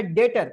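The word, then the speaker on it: debtor: creditor एक होता है डेटर देखिए यहां पे बी साइलेंट होता है स्पेलिंग में बी आती है लेकिन हम बी पढ़ते नहीं है इसको बोलते हैं डेटर तो डेटर्स का मतलब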